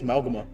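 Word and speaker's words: Mauga: He's Samoan. It's Malgma. That's how it's pronounced.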